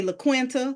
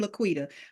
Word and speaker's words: LaQuita: calling my name wrong they say la quenta Laquisha Laquanda laquia don't know how they get laquia from Laquita but I'm like listen